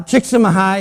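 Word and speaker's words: Csíkszentmihályi: can say it uh chick mahai is kind of how he talks he he pronounces his name and we've all heard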